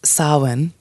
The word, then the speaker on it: Samhain: So nothing, it's not pronounced anything like the way it looks, but pronounced Samhain. And Samhain is a festival where